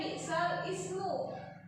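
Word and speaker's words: بئس الاسم: Tulisannya bi'sal ismu. Tulisannya bi'sal ismu. Dibacanya bi'salismu. Bi'salismu ya.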